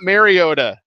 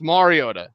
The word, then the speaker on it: Mariota: I mispronounced a lot of things like Marcus Mariota. I was alerted via Twitter. Like, it's not Mariota, idiot. It's Mariota. Whatever.